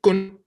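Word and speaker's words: ཀུན: Okay, listen, say kun, Kun. kun, Kun. no air, kun.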